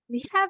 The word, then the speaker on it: は: what and then copy the particle waana but pronounce as wa so we will this